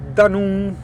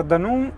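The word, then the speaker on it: Dunoon: traghetto, il Wester Ferris che è a gaurock, si scrive g o U r o c k, ok? Con destinazione Danun, cioè che sarebbe du u n o o n. Siamo arrivati a Danù e incrociamo le dita perché ora avremmo 40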